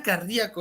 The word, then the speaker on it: cardíaco: acá la palabra cardíaco la palabra cardíaco es optativa se puede poner un acento en otra parte es cardíaco cardíaco cardíaco cardíaco no verdad es solamente cardíaco solamente tiene una acá